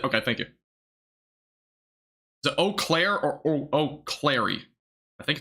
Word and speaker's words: Eau Claire: I think that's French, if I'm not mistaken, which I never took French. I'm not from Wisconsin, so that makes sense. Eau Claire. Eau Claire? Oh, that's it?